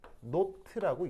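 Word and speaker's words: naught: 그래서 표준이라는 말을 기호로 저렇게 동그라미로 쓰고 읽을 때는 노트라고 읽습니다. 그래서 델타 HF 노트 이렇게 이제 읽으면 되는데, 저희 의미가 뭐냐?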